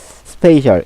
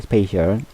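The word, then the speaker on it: spatial: 갑자기 아 슬프네요 그다음 스페이셜 이거는 발음을 좀 주의해야 되겠네요 스페셜이라 좀 발음이 좀 비슷하죠 스페이셜 어떤 공간을 잘 어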